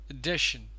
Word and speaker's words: addition: This one is pronounced as addition.